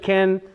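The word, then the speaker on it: כן: Or Ken, but Israelis pronounce it ken, but it's spelled Cain with a tzere.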